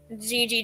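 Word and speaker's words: Jiji: And turns out that Gigi is in fact a girl, which is okay because, you know, Gigi sounds like a feminine name as well.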